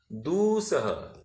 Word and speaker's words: दूसह: दुसह नहीं कहना, दूसह। दू उकार बड़ी है ना, तो उसको प्रोनाउंस भी ज्यादा करना।